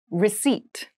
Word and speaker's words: receipt: service meal room service meal room service meal receipt receipt receipt receipt has a very interesting spelling